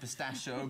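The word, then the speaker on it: pistacchio: And you pronounce it pistachio, but it's, promise you in Italian, it's pistachio.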